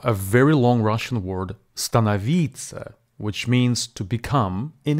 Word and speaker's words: становиться: very long Russian word stanavita which means to become in English this word has four syllables and the stress falls on the penultimate third syllable be advised there are